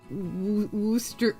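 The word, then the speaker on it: Worcester: Uh, the ending in Yorkshire is the same ending as in Worster.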